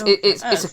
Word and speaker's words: Loggia: seen it, I just couldn't Yeah, place it's like Sorry, Robert it's Loggia.